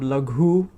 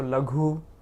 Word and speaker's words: laghu: So La, there's this the sound La. So for example, we talked about the word laghu, which means light, buoyant, right? Something that, like a ball you put into water, springs right up. So laghu, laghu. So La, La.